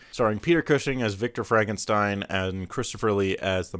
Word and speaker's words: Frankenstein: Frankenstein. My name, it's pronounced Frankenstein.